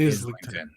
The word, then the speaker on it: Islington: anything, outside of it, so the S is pronounced, so it's okay. So it's Islington.